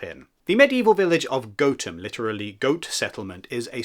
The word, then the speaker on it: Gotham: Or perhaps it would be better to call it the Wise Men of Gotham, or indeed the Wise Men of Gotham, as it is actually locally pronounced.